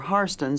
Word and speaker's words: Hairston: side at one time the Hairston's or har stands as the white side of the family pronounces it were the Rockefellers of